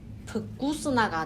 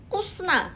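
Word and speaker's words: вкусно: 러시아에서는 앞에 v가 있으니까 한국식으로 발음을 하면은 vкус나가 돼요. vкус나. 그러니까 러시아 사람들한테 это очень vкус나라고 하면은 못 알아듣더래요. 그래서 터득을 한 게 vкус나라고 말을 하면 못 알아들으니까 그냥 꾸스나 했더니 알아듣더래요. 근데 사실 이게 왜 그러냐면은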